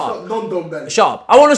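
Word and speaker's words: Ndombele: I wanted to speak about Nundumbele, and I want to speak about... You didn't say his name right. Undumbele. Shut up. Non-Dumbele.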